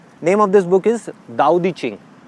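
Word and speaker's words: 道德经: Name of this book is दाओ दी चिंग। हम इसको पढ़ते हैं तो इट इज़ ताओ, TAO, बट we pronounce it एज दाओ।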